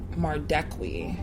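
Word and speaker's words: Madekwe: Mardekwi.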